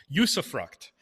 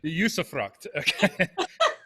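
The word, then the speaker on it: usufruct: this discussion um and i'm going to try to pronounce it right um yusuffruct okay um and if that didn't come across right on zoom forgive me but uh but i'm telling you google tells me that's how to pronounce it usefruct this isn't awkward at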